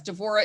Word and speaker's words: Devorah: Yes, Devorah is the Hebrew pronunciation and Deborah is the English.